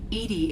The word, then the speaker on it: EDI: airlock is jar why are you named edie edie is the phonetic pronunciation of edi that is an acronym for